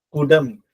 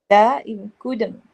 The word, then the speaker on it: குடம்: நீங்க வந்து சரியா சொன்னீங்க, ஆனா உச்சரிக்கும் பொழுது பிழையாக வந்துருச்சு. ஓகே. ஆக்சுவலி குடம், குடம், குடம் அப்படின்னு சொல்லுவோம். கூதம். எஸ், குடம்.